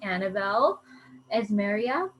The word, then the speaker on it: Annabelle Esmeria: So on tonight's call, we're going to hear a Thrive experience story from our special guest, Annabelle Esmeria. Is that how you say it? Yes, you got it.